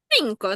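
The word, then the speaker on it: cinco: Синко. Да. Тут бачите одна і та сама буква, але перед різними голосними читається по-різному. Перша читається як с, а друга як К.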